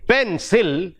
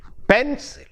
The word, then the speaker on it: pencil: In pencil, we have two syllables and the first syllable is stressed. We don't say pencil, but we say pencil.